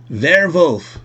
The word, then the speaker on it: Werwolf: We did a unboxing here of the game Werwolf, which is the German pronunciation of werewolf.